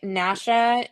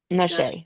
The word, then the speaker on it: Nashae: How to pronounce Nashae. You're right. Nashae. Nashae.